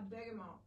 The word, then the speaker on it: bergamot: all what is a bergamot and am i saying it correctly you are burger juice yes so